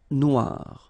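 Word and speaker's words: noire: it's quite funny because you will have to add this at the end of Noir for the feminine form but then you don't pronounce it okay so phonetically it is exactly the same no Noir Okay g don't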